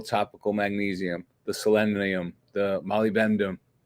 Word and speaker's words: molybdenum: Like a little zinc, a little topical magnesium, the selenium, the molybdenum, which is one of the hardest minerals to pronounce, molybdenum, and Molly then B, there you go.